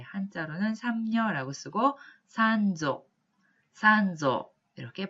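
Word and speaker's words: 三女: 삼녀 혹은 셋째 딸이라고 할 때 한자로는 삼녀라고 쓰고 산조 이렇게 발음을 하시면 되겠습니다.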